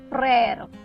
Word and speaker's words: frère: Frère.